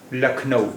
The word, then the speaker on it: Lucknow: in India LNO LNO in English we spell it as l u c k n o w uh LNO but in Hindi we say LNO lakau lakau is the name